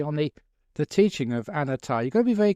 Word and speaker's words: anatta: sermon was actually on the the teaching of anatta. You got to be very careful actually when you pronounce the the Buddhist term for non-self, anatta.